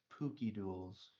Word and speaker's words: PokeDuels: It's actually pronounced Pookie Duels.